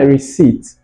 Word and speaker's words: receipt: Can I have my receipt? Ain't that interesting? Right. So the P is silent.